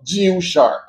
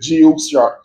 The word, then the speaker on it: Jiushark: brand name is called Jiushark. It sounds weird, but I think that's how you pronounce it, Jiushark. Jiushark. It's kind of a tongue twister.